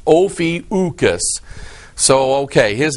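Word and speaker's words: Ophiuchus: about it and it actually said it is pronounced ofius so okay his name is ucus there's another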